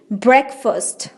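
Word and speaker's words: breakfast: ब्रेकफास्ट। फास्ट नहीं बोलना है, फर्स्ट बोलना है, ब्रेकफास्ट, ब्रेकफास्ट।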